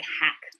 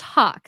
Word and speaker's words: Haack: a a c k my last name looks like hack so yeah pack yes but pronounce Hawk so definitely go follow